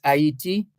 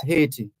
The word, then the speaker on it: Haiti: in in uh in in French it's hati in English it's Haiti word that the name